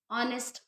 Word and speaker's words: honest: Okay, in H also, if the H is silent, if any word is starting from H and the H is silent, at that time we will use an. For example, honest man.